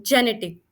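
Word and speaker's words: genetic: कब प्रोनाउंस करते हैं, जब आई ई वाई आता है तब हम इसे ज प्रोनाउंस करते हैं। तो जेनेटिक, तो आप देख सकते हो जी के बाद आई आ रहा है, जेनेटिक, जेनेटिक, तो हम ज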